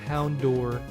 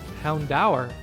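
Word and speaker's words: Houndoom: in this entire playr I'm so used to saying it like it is ingrained in my head to say Hound door from just my childhood and then I'm looking up how to pronounce it properly here and it turns out it's actually Hound da which was a little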